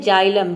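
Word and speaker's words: xylem: छाया next word है जाइलम जाइलम में भी देखिए वर्ड के शुरू में एक्स आया है और यहां पे एक्स को हम ज प्रोनाउंस कर रहे हैं जाइलम मतलब होता है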